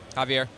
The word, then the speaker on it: Javier: Javier. It looks like Xavier.